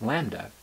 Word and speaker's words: lambda: e to the minus lambda divided by x factorial, where lambda, pronounced lambda, is the mean number of occurrences in an interval, and the value of e is approximately 2.71828.